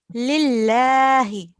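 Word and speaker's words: لِلَّهِ: So when we are joining here, if the letter carries a kasra here, we have a la. It carries a kasra. Yeah. So we have to pronounce it thin. Lillahi.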